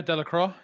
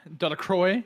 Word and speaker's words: Delacroix: How do you say that? Delacroix? Yeah, Delacroix. Delacroix. Yeah. Yeah, because it's like the water, right? Like La Croix.